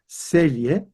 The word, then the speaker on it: Celje: So here we have a Slavic language where the C's are pronounced T-S, Celje.